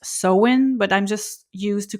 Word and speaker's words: Samhain: So Halloween with its costumes and pumpkins comes from a very ancient pagan festival called sain. And apparently it's supposed to be pronounced sewen, but I'm just used to call it sain.